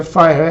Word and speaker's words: FHIR: Pronuncia FHIR, F-H-I-R, que é Fast Healthcare Interoperability Resources, ou Recursos Rápidos de Interoperabilidade em Saúde.